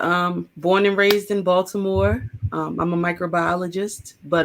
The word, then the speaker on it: Baltimore: didn't say it right he didn't say baltimore right now yeah there's no t in baltimore okay the t is silent aj about to